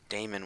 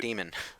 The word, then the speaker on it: Daemon: been everyone pronounce it Damon with an A? Because that's how it's spelled. It has an A. That's not how it's pronounced, though. You're supposed to say it demon.